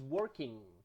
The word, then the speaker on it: working: remember in these cases the g is never pronounced it's pronounced like an n that is very nasal is so this is working it's not working it's